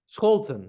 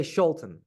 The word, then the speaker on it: Scholten: Scholten, but you can say Scholten.